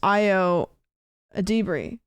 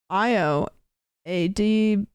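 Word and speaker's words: Ayo Edebiri: Oh, That's crazy that I'm asking how to pronounce it when literally below it, Caitlin has written out how to pronounce the name, which is Io Adibri. Io Adibri.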